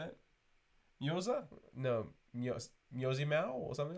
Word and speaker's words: Mjøsa: Mjosa?